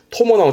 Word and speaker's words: 伴: 네, 시험적으로는 반주에 반소하고 토모나무 챙겨두시고 다음 실사가 붙으면 그 절반을 실로 얽어맨 얼검을 반자인데 대표적으로는 각반 갈게요.